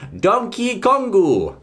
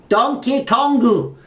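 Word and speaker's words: ドンキーコング: is Donkey Kong but in Japan as you can see there we have a Katakana once again and an extended pronunciation Mark after the key part meaning we're going to say donkey kongu ah donkey kongu this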